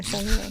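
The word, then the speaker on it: Sennelier: The R is silent. That's right. I did it correctly. Senlier.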